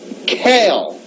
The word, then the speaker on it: Cain: Now note, in the Ethiopic, Cain is pronounced Kale, and Luluella in the Aramaic means a pearl.